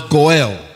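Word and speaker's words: גואל: The Hebrew word that you pronounce Goel.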